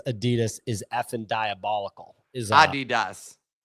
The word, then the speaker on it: Adidas: he over there anyways people are pushing back on your pronunciation of Adidas which I agree with um it's Adidas oh that's tough man uh that's that's the correct way to say itas that's a tough